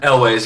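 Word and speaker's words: Elwes: Is that how you pronounce his last name, Elways? Elways, yeah.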